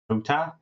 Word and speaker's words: Hotah: But I do actually think that is pronounced Hotah? Areo Hotah, I believe, yes.